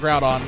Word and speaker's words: Groudon: It's how it's said in the Pokédex, but that's not how it's said in the anime. In the actual anime episodes where it shows up, they do pronounce it Groudon and Kyogre.